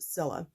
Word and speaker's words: Cilla: name is Priscilla and c-i-l-l-a is simply pronounced Zilla but we've been together